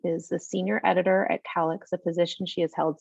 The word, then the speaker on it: CALYX: It's actually pronounced CALYX. We get that a lot. CALYX.